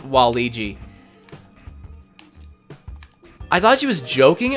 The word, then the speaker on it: Waluigi: they're like oh yeah waluigi she's like it's not pronounced waluigi it's wall-e gee I thought she was